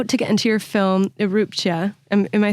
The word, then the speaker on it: Erupcja: You said it correct earlier, but right here you did it a little wrong. It's ERUPCJA. ERUPCJA. Yep. I think because you had recently said it, it was in my head. It's tricky. It's Polish. I wrote it phonetically, but I like that cia.